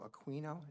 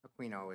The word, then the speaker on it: Aquino: Aquino, is that how you pronounce it? Yeah. Aquino is here to give a talk on the New Jersey Climate Superfund Act resolution.